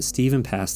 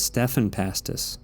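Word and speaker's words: Stephan Pastis: up pearls before swine i've been i've been pronouncing his name wrong for months now that is his name isn't steven his name isn't steven pass this is stefan pastis stefan i wasn't expecting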